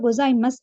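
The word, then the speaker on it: ございます: அது சூவை வந்து ரீட் பண்றது இல்ல. இது வந்து சாதாரண ஒரு வேர்ட்ல வந்து சூ வந்து நடுவுல வருதுன்னா நீங்க அந்த இடத்துல சூ அப்படின்றத போட்டு பேசலாம். இது மாதிரி ஃப்ரேஸ் வரப்போக்கல ஃப்ரேஸ்ல எண்டிங்ல வந்து இது மாதிரி சூ ஆற நேரம் அது இஸ் அப்படிதான் ரீட் பண்ண வேணும். ஆகவே ஒஹாயோ கொசாய்மஸ் அப்படின்னு வரக்கூடியதாயிருக்கும்.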